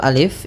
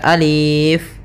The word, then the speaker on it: alif: Nah, maka ketika kita membacanya, untuk alif ini la yumaddu, tidak dimatkan, tidak dipanjangkan, sehingga jangan dibaca alif, tapi hanya pendek saja alif.